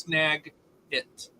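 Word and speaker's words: Snagit: okay s n a space i t it's pronounced snag it and it's a tool we use at work snag it the first time I heard that though my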